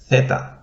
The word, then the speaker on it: theta: we have the letter theta you have this sound that is fairly present in english in words such as thing so we will write this one as a th thing feta and a